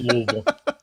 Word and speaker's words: Louisville: The way I say it, half half the letters are silent and it's Louisville."